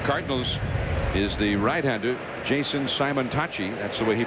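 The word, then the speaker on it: Simontacchi: And on the mound for the Cardinals is the rightander Jason Simonachi. That's the way he pronounces it.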